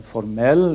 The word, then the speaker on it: formell: Och de är, som vi har gått igenom, betoningsmönster i ord. Alltså skillnaden mellan formel, formell eller japan, japan.